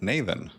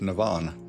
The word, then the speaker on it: Naven: Are they they pronouncing it Naven? Always pronounce it Navan.